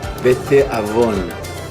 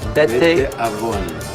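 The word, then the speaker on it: בתאבון: Bete avon. Bete avon. Bete avon.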